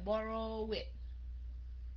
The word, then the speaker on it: borrowed: Borrowed hay là borrowed hay là borrowed? Yeah, borrowed, right? Borrowed. Nó không nằm trong hai cái luật kia thì nó sẽ là luật chung là cuối cùng bằng D, phát âm thành chữ D.